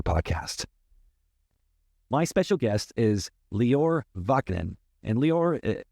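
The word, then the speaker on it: Lior: my special guest is leor Ven and leor it's spelled l i o r it's pronounced just like Christian Dior the brand so it's leor ban now he was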